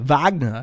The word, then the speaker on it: Wagner: It's important that when you say Wagner, you say it like Arnold Schwarzenegger. Wagner, because otherwise Ralph will get angry at you.